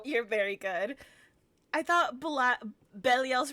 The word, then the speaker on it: Belial: So we say Belial because it's close enough, but like I believe in Hebrew it's supposed to be Belial, which is slightly different.